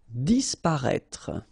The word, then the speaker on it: disparaître: Disparaître, okay? So remember that we've got this accent circonflexe on the top of E, but then phonetically we don't pronounce it, so we get disparaître, disparaître.